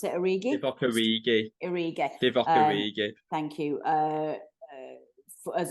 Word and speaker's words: Origi: Another one is is Origi? Is that how you pronounce it? Origi? Divock Origi. Origi.